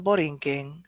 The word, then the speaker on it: Borinquen: I know this is not what in the Borinquen. I know that. But Borinquen, when it's spelled Borinquen, it's just Borinquen.